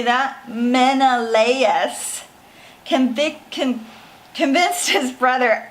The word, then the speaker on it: Menelaus: Okay, Menelaus convinced his brother Agamemnon. Okay, so I want you guys to remember how to say these words. So I'm going to throw them up. Menelaus.